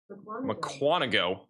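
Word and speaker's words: Mukwonago: That is going to be going towards I need to get the pronunciation again. McQuanago.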